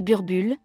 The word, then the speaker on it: Boerboel: même joué un rôle le number ball prononcé burbure signifie chien de fermer